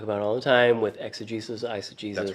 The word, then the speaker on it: exegesis: Which brings us back to what we talk about all the time with exegesis, eisegesis. That's right. Am I emphasizing the Jesus in the... I felt weird when I said it. Exegesis?